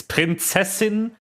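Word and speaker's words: Prinzessin: yes the princess lung it's not how you pronounce that official voice actor but I guess you don't speak German so it's fine it's princessin is how you pronounce it foreign read her posts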